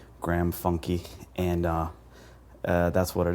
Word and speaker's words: Funke: pronunciation of your name it is a German last name uh the German word being Funke um my family has pronounced It Funky all these years though